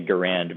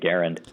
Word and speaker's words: Garand: should be pronounced, but the guy himself and his family pronounced it with the emphasis on the first syllable. So in deference to that, I have been pronouncing it Garand.